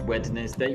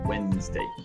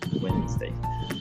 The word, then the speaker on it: Wednesday: Uh, It's Wednesday is a strange word because of the D. It's spelt a very funny way with Wedn. So some people might read it as Wednesday, but we pronounce it differently.